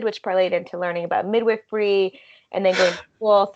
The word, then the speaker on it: midwifery: parlayed into learning about midwifery and then going to school. So that's kind of. Is that how you pronounce it? Midwifery? Yeah, midwifery. Wow. Wild. Yeah. That's the funniest possible pronunciation.